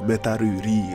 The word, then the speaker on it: Metal Lee: Anyway, the highlight of the episode is Metal Lee, or Metaru Ri as they call it in Japan, because they can't pronounce an L, which goes to Boruto